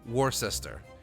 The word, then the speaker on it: Worcester: Because that's how it's spelled. Yeah. Or like, you know, Worcester, which is Worcester, apparently.